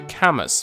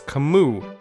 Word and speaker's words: Camus: it's supposed to be Camus but in reality the name is French and the proper pronunciation is Camus can we in addition